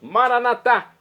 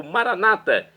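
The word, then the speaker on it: Maranatha: E agora eu clamo do aramaico, dialeto de Jesus, Maranatá, como dizemos nós católicos, ou Maranata, como dizem nossos irmãos das comunidades evangélicas ou protestantes. Não importa, a pronúncia e o significado é o mesmo.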